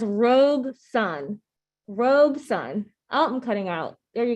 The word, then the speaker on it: Robeson: that says rogue sun robe sun i'm cutting out there you go so in case anyone forgets how to say robeson it's two syllables it's pretty amazing all